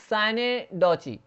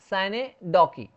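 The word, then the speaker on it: synecdoche: Special type है वो है साइनेडॉची, साइनेडॉची या साइनेडॉकी।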